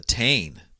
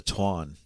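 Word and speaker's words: Táin: going to talk about the Tain or the proper pronunciation the Twan Twan yeah so but we'll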